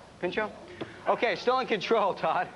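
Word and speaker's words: Pinchot: marklin Baker and and Bronson I can never pronounce that Man's last name pincho is pincho pincho okay still in control Todd I don't like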